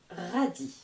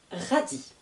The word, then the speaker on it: radis: radis un radis un radis radis s'écrit avec un s à la fin du mot qui est muet on n'entend pas le S 1 radis maintenant je continue avec